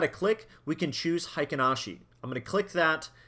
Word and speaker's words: Heiken Ashi: Not a huge difference, still pronounced the same, Heiken Ashi.